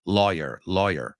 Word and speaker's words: lawyer: secretary to a demanding lawyer. Vamos a pronunciar esta palabra porque lo he oído mal pronunciado muchas veces. Law, not low, low, not low, law, lawyer. Lawyer, pants on fire.